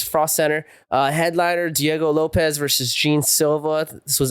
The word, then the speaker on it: Lopes: I mean, Lopez, but he goes I mean, it's spelled Lopes, so I like to call him Lopes, but it's pronounced for Lopez.